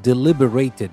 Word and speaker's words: deliberated: And when we use it as a verb, the stress changes, and so the pronunciation changes as well. So, Niame deliberated, not deliberated.